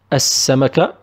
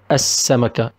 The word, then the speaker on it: السمكة: It is السمكة. السمكة. Because we have شده, we will not pronounce لا and it's theme of ال الشمسية.